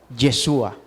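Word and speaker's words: ישוע: Jesús que quiere decir en el original la pronunciación sería yeshua Y eso es el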